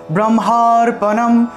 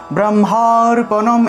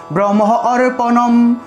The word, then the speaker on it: ব্রহ্মার্পণম: ভালো করে বোঝা যায়, আকারের উচ্চারণটা যেন স্পষ্ট হয়, ব্রহ্মার্পণম ব্রহ্মার্পণম, এভাবে একটু টান দিয়ে বলতে হবে, আর যদি ভেঙে বলি তাহলে এভাবে ব্রহ্ম অর্পণম ব্রহ্ম অর্পণম, দুইভাবে উচ্চারণ করা যায়,